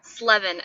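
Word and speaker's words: Sleven: Slevin. S-L-E-V-E-N. Slevin. So 11 plus 7.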